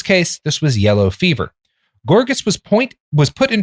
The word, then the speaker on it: Gorgas: effort was Dr William gorgeous born gorgas I guess g-o-r-g-a-s I don't think it's pronounced gorgeous born in Alabama in